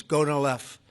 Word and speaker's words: Gonal-f: So it's Gonal-F. Is that a proper pronunciation? Very Close well enough, done. right? Very well done. Gonalev.